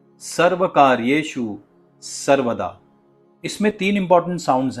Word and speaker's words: सर्वकार्येशु: और यह जो श का साउंड है उसे हम तालव्य श या फिर पलातल स भी कहते हैं। और इस श को एस्टैब्लिश करने के लिए या इस साउंड को लाने के लिए आपको अपनी जीभ को थोड़ा सा रोल करके ऊपर की पैेट की ओर जिसे हम बोलते हैं ऊपर के तालू की तरफ लेकर जाना पड़ेगा। और इसकी प्रैक्टिस बहुत ही जरूरी है।